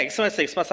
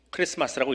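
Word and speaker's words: Xmas: 그래서 저는 다 엑스마스 합니다. 근데 정확하게 알고 나면 엑스마스가 아니라 어떻게 읽어야 된다고요? 크리스마스라고 읽어야 되는 거예요.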